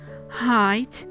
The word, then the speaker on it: height: The question is, when is the GH silent? As you might have noticed, after the diphthong sound A and I, as well as after the diphthong sound O or the vowel sound O.